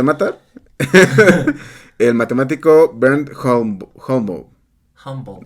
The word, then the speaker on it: Holmboe: Humble. Es que no sé cómo se pronuncia. Ah, Es como Holmboe.